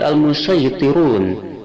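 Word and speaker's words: المصيطرون: Yang kedua, lafaz al-musayyitirun surat At-Tur ayat 37 berdua wajah, boleh dibaca sin, juga boleh dibaca shad.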